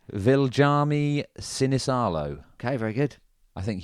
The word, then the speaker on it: Viljami Sinisalo: Viljami Sinisalo.